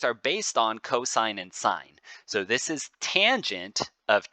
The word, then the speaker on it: sine: then they say the sine of T so this is it looks like sin but we would say that's an e sine of T is how we say that they're saying that is